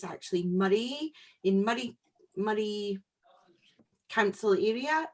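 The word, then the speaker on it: Moray: like to pronounce things wrong if you might pronounce it mori by mistake but it's actually murray in murray murray council area and it says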